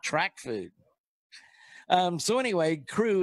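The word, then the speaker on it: Krewe: food um so anyway crew is spelled k r we and uh so and brew and crew rhyme and I was that's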